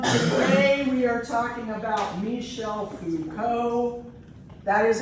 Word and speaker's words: Michel Foucault: So everyone, today we are talking about Michel Foucault. That is how you pronounce it, Michel Foucault. Not Michael Foucault, which is what I get a lot, nor